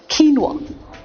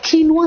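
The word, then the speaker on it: quinoa: दलिया नहीं खा रहे क्यू यू आई एन ओ ए एक ऐसा क्रॉप का बीज होता है ये जो बड़ा हेल्दी माना जाता है नुवा इट्स कॉल्ड नुवा सैलेड नुवा इटालियन वर्ड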